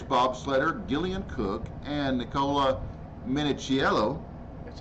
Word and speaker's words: Minichiello: Now, for a closer look at two women bobsledding, let's go to Vancouver, Canada, where British bobsledder Gillian Cook and Nicola Minichiello.